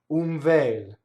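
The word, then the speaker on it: un vel: So what happens is N before a V or an F will do something funny. Watch my mouth when I do this. Umvel.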